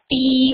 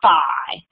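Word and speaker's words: phi: then we have uh this can be pronounced two ways I've heard it pronounced two different ways Fe or fi um and then we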